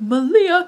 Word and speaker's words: Malia: in the backseat with Malia who is rhymes with Maria on rivalry who is